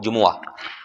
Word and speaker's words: جمعہ: بھائی ذہنوں میں رکھیں، جمعہ صحیح تلفظ ہے اس کا، جب بھی بولیں تو اس کو اسی نیت سے بولیں کہ یہ چونکہ قرآن پاک میں استعمال ہوا ہے اس لیے ہم اس کو بگاڑ کر یا بغیر سوچ کے یا اس کے تلفظ کو خراب نہیں کر سکتے، اور جو اس سوچ